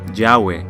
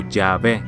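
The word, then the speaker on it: Yahweh: en hebreo yhw H nadie sabe realmente cómo pronunciar esto porque estuvo fuera de uso durante tanto tiempo pero muchos creen que la pronunciación más probable sería yahwe o yahve el nombre de Jehová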